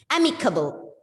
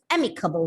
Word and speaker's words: amicable: And the first syllable is stressed here. Amicable. Amicable means friendly.